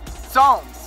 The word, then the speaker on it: Psalms: Psalms. This P is silent.